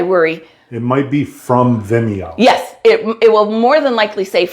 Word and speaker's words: Vimeo: rewatch you have to sign up for a Vimeo hey I got I could say it right yay Randy said it right this time uh a Vimeo uh account which is totally free so don't